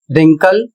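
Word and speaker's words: wrinkle: अगला शब्द है डब्ल्यू आर आई एन के एल ई। इसे पढ़ा जाएगा रिंकल और इसका अर्थ होता है झुर्री।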